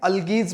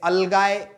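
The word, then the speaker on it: algae: अल्गीज बोलते हैं। अलगाए आप इसका प्रोनाउंसिएशन कर सकते हो या अलगी भी बोल सकते हो।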